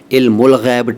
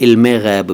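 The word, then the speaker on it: علم الغیب: से बना है तो अरबी की ग्रामर के रूल ही चलने चाहिए इसलिए तो इल्म उल गैब ठीक है वैसे फारसी अंदाज में इसे इल्म गैब भी कह दिया जाता है तो इल्म उल गैब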